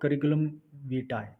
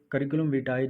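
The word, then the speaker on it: curriculum vitae: CV stands for CV stands for करिकुलम वीटाई। यह करिकुलम विटाय जो इसकी प्रोनाउंसिएशन है, यह Google की प्रोनाउंसिएशन है। आप इसको चेक कर सकते हैं। यह एक लैटिन वर्ड है।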